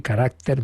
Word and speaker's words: character: El sello del Señor, y nos pone entre paréntesis una expresión latina de San Agustín, Dominicus Caracter, character, pero que pronunciamos así, Caracter Dominicus, es decir, del Señor.